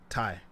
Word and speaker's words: Ty: Ty. Like tying yours.